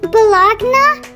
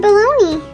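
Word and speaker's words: bologna: Well, if you see how baloney is spelled, it's spelled like balagna. Well, that's really weird. How do you spell baloney? Oh, you spell it B-O-L-O-G-N-A.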